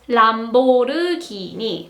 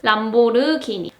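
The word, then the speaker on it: 람보르기니: And in Korean language, it is Lamborghini. 5 syllables. Lamborghini.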